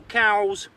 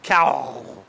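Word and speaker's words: cawl: Julie made a beautiful it's spelled c a WL but I think they Pronounce itow Welsh cow it's basically a stew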